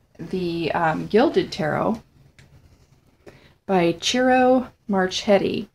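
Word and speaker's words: Ciro: um gilded tarot by churro marchetti now I think that's how you pronounce it it's c i r o maret m a r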